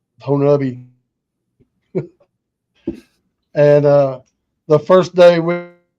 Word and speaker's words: Honobia: Honubi, which a lot of people call it Honobia, but it's pronounced Honubi.